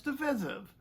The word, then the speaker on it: divisive: way well on the first matter it's decisive but on the second one it's divisive and you know to air